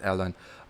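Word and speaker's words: Ellon: uh his name is ellen e-l-l-o-n and it's pronounced as ellen but elon musk is elon so elon musk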